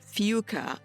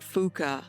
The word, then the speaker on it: Fuca: But before we go further, one of the first things they told me, I had mispronounced the family name. It's Fuca. I was calling it Fuca, and I was so